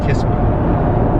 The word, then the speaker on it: Kissimmee: It's pronounced Kissimmee.